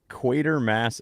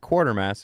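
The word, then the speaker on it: Quatermass: This is the uh the equator mass experiment. Not quarter mass, equator mass. But it's spelled like quarter without the r.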